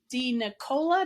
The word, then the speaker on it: DeNicola: Violet rain and today my guest is Allison D Nicola did I pronounce that right perfect yay I love it